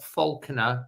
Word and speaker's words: Falconer: Carl either on Facebook, Carl Faulkner, which is spelled Falconer, or he's on Twitter X as Cosley Wolf, or as Instagram again on Carl Faulkner.